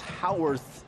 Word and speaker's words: Howarth: understanding the game plan Howarth spouts h a wor th but pronounced how earth captain got off to